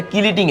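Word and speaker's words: chelating: তাহলে এখানে আমি বলব যে এটা কিলেটিং agent কিলেটিং agent. কিলেটিং agent. সিচি উচ্চারণ কি দিয়ে হয় উচ্চারণ। এটা একটু মনে রাখবা।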